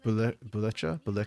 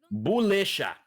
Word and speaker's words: Bulisha: And Buleka? I don't know how to pronounce that. Bulisha. Bulisha. Okay, I was wrong both ways.